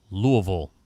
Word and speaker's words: Louisville: team leading five interceptions one starred collegiately at louisville that's how you say it louisville louisville the